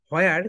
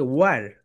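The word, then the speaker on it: where: এটাকে সবাই বাংলাদেশের বলি হোয়ার, কিন্তু রাইট প্রোনাউন্সিয়েশনটা দেখে ওয়ার।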